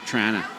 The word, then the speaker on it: Toronto: to attend the event pronounced Trana that's how we say it up here TR is that you